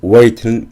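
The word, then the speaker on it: weight: 뜻이고요 그 뒤에 나오는 wait는 무게라는 뜻인데요 두 단어가 없어서 라이트 웨이트는 무게가 가벼운 즉 가벼운이라는 뜻이 됩니다 라이트에 있는 gh wat에 있는 gh 둘 다 발음이 안 되는 것에 주의하셔야 합니다 for example 예를 들어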